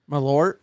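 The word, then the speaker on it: Malört: I will drink it is it called marlot or what's it called it's called something it's not that Ain how you say it is that how you say it malort malort there you go malort there you go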